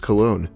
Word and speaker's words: Colon: So ironic that his last name is pronounced Cologne, yet he always looks like he hasn't showered in 3 weeks.